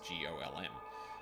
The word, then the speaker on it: GOLM: He asked to be referred to by the last bit, which is, of course, GOLM. Much to his surprise, this ends up being pronounced like Golem, anyway.